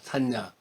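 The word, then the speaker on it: saññā: 산스크리트에서는 이제 그 발음으로 보면 산냐입니다. 산냐.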